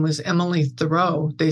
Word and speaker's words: Thoele: Yeah, I was gonna say it was pronounced Thoreau, but I wasn't sure. So yeah, well, and my husband's father was French, and they don't pronounce it Thoreau there. But my husband was a philosopher, and he wanted it like Henry David.